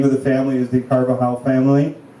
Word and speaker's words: Carvajal: the family is the Carvajal family how do you spell that c a r v a j a l as you know in Spanish a j is a h silent yes silent and um and